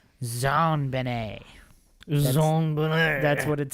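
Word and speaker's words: JonBenét: Other facts, John Benet was named after her father, John Bennett Ramsay, and her name is pronounced in a French style. Zan Benet.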